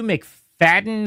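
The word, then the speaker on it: Macfadyen: So Matthew McFadden or McFadyen is how it's spelled.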